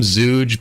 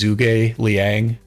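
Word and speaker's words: Zhuge Liang: Zug I don't I I want to call him zouge but I know his name is properly pronounced as zugai Liang so maybe I could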